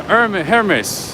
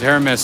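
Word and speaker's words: Hermès: buy it right the h is silent hms okay that makes sense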